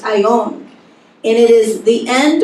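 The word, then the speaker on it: αἰών: a Bible dictionary age Greek word Strong's gee 165 is pronounced I own and it is the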